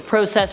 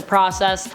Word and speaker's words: process: I find I actually go back and forth between pronunciations on the word process actually. Process or process.